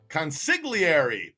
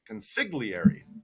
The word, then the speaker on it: consigliere: Consigliere. Thank you, Bobby Bag of Donuts. Not sick. Sig. Consigliere. Okay. Consigliere. Consigliere. Bobby, the G is silent in that word.